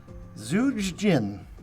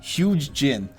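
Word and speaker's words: Zhuge Jin: Number 757, Zuj Jin. I did not pronounce that correctly. Wu strategist. I believe his name is the Z is silent. It's Huge Jin.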